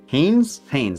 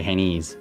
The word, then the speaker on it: Hannes: Mark Hannes Hannes. Okay, I was about mispronounced that there. I was going to say Hanees. That was that would have been bad.